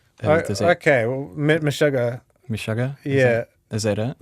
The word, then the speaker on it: Meshuggah: I've got a text in saying nowhere near as good as Mess Hugger. Okay, well, Meshuggah.